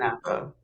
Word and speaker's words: SNPhA: SNPhA? Is that how you say it? SNPhA.